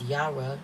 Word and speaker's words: Jera: deck I mean book yera also known as Yara Yan or Yas pronunce iation y letter sound y as in year and J in Germanic languages translation year Harvest keywords